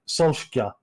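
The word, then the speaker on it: Solskjær: do you pronounce your surname and he's like solstice like it's because yes it's not how we pronounce this i actually got it's like and then he was oh sorry one more time so it's so sure and then fergie just went okay yeah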